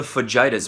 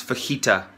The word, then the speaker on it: fajita: for you yeah I'll have the Fujita's please pronounce fajita you ignorant sack of